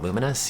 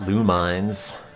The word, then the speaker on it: Lumines: so incredibly lazy is that how you actually pronounce it uh what luminous yeah it's not lumines replace some of